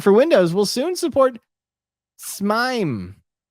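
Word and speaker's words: S/MIME: a pain to use Matt how do you say that smeim it's s mom s mime I see somebody doesn't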